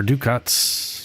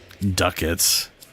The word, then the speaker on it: ducats: But hey, hunter ducats or duckets if you're going to be correct about pronunciation.